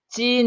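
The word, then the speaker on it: 金: 김지석 이라고 해 자 김씨를 중국에서는 찐 이라고 발음합니다 진 자 진 씨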